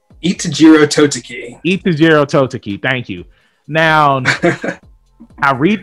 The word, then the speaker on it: Itejiro Toteki: can't say his name what is his name itajiro totoki thank you now i read the manga right